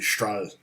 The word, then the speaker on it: Strahle: my own name so it's not supposed to be straight it's supposed to be straw hey joseph good morning